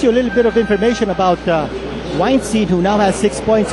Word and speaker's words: Weinstein: Set the record straight it is pronounced weinstein to team manager vir V as in the piano weinstein piano weinstein um rymes with wine well we know weinstein